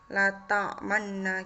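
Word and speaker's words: لا تأمنّا: download la ta'manna Hai lafadz is Imam pada ayat La ta'manna dibaca Latang mana gitu hai hai Hai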